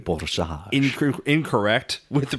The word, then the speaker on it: Borzage: Danny, huge shout out letting us know, hey, it was not Borzage, it's Borzage.